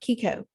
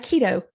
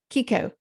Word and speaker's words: CICO: We're going to talk about Kiko, not keto, Kiko, CICO or psycho. I mean, how do you say it? Kiko. CICO. It's calories in, calories out.